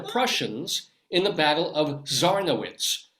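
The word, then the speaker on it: Żarnowiec: It's a Teutonic tumble as Polish forces defeat the Prussians in the Battle of Zarnowitz. I'll spell it Zarnowiec, Zarnowitz, part of the 13 Years' War.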